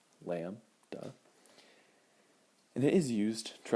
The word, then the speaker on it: lambda: write this in parentheses so you know how to say it lamb du say it with me lamb du and it is used